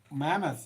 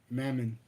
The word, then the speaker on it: Mammon: Like that, what Scripture says, you can't serve both power or mammoth, and that's what they're Mammon, doing. not mammoth. Huh? Not mammoth. Mammon. Oh, mammon. Yeah, Okay. you got to say it right. Mammon.